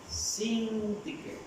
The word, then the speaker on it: Síntique: Había dos personas, Evodia y Síntique, ¿cómo se pronuncia? Síntique.